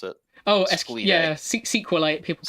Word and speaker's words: SQLite: yeah, SQLite. People pronounce it as sequel.